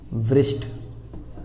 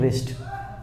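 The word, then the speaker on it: wrist: जैसे क्या है, लिखा हुआ है वृष्ट, लेकिन होता क्या है, ये रिस्ट।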